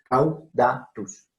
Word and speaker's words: caudatus: Pteristicus caudatus, no caudatus, caudatus, no son 4, sino 3 sílabas, caudatus.